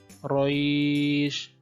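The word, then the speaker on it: قريش: Nah, membacanya dengan cara melunakkan suara atau melunakkan bacaan. Panjangnya boleh 2, boleh 4, boleh 6 harokat.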